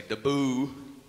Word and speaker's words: debut: Or as the Americans say, deboo.